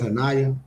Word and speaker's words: Hana: I think I said Hanaya in the last post, but her page um, it's spelled Hanaya, but she pronounces it Hana.